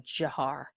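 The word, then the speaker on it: Dzhokhar: Just so you want to know to how to pronounce them. Jiar.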